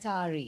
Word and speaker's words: Sari: Sari. My Sari, like the clothing.